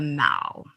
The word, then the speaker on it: The Mall: And I'm calling it the Mall. In America, we would pronounce that word as mall, and that is